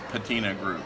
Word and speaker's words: Patina Group: But it's Patina Group, so you can check that out.